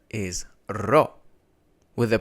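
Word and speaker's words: ρο: For this one, you really have to roll your R, and it can be difficult in the beginning.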